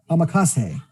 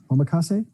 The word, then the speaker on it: omakase: to pronounce it incorrectly but tiffany's here to pronounce it correctly for me spring boot amakase omakase yeah okay sure uh fast-paced choice dive into